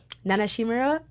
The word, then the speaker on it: Nana Shimura: in them though but yeah I'm not actually Nana Shimura is how you say it Nana humor up